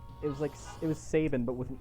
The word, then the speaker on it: Sabin: No, it's like, it was Sabin, but with an E at the end, so it was Sabine.